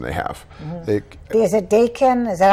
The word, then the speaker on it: Daikin: Is it Daikin?